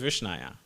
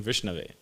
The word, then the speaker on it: Vishnave: Means Vishnaya, it means the fool doesn't know how to say it properly, so he says Vishnaya. It doesn't mean, it's just, he's mispronouncing Vishnave, but he says Vishnaya, right?